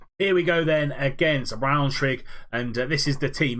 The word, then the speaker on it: Braunschweig: We're gonna get into this Braunschweig game, and that's how you pronounce it.